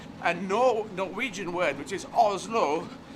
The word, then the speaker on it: Oslo: Norwegian word which is Oslo which seems to be the emphasis on both syllables oh it's look and